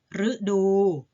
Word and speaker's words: ฤดู: แบบ แรก กัน ค่ะ แบบ ที่ ออก เสียง เป็น เสียง หรือ เช่น ฤดู หมาย ถึง ส่วน ของ ปี ถ้า แบ่ง ตาม ภูมิอากาศ เป็น หลัก คฤหัสถ์ หมาย ถึง ผู้ ครอง เรือน พฤกษา หมาย ถึง ต้น ไม้ มฤตยู หมาย ถึง ความ ตาย ชื่อ ดาว เคราะห์ ดวง หนึ่ง เห็น ไหม คะ อ่าน ออก เสียง เป็น รึ นะ คะ ต่อ ไป อ่าน